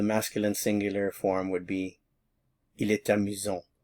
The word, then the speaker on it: il est amusant: So, the masculine singular form would be Il est amusant. Il est amusant. And notice I have a little bit of liaison here. It's amusant. Il est amusant.